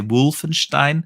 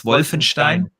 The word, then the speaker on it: Wolfenstein: Wolfenstein uh well when whenever I talk to to to Americans I I start to pronounce Wolfenstein wrong like like you guys do it you always say Wolfenstein yeah or something like that it's it's Wolfenstein yeah exactly there we